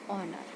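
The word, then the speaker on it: honour: पहले हम क्या लगा देंगे, एन, तो एन ऑनर।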